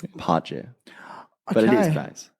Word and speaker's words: Pace: It's not actually pace, right? How's it pronounced? Pace.